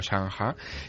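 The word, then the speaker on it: Shanghai: Allí no se llama SG, allí se llama Changa, que es buen Sí, sí. Allí es como lo pronuncia. Bueno, claro, a fuerza de yo mencionárselo a ellos y que pusieran cara de, no sé, de noruegos, pues finalmente me explicaron que no se llamaba S, sino Shanha.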